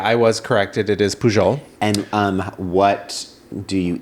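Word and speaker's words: Pujol: kept calling it I did keep calling it pohole because technically that is how it would be pronounced um and but yeah I was corrected it is pool and um what do you eat at poho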